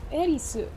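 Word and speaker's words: エリス: Actually, it's the Japanese pronunciation. Ah, that makes a lot of sense cuz there's no like th in Nihongo. So, Erisu.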